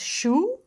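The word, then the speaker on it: Syu: the band, the guitarist whose name is written S-Y-U, but it's pronounced Shu. Which is like close to Ryu, which I know from Street Fighter.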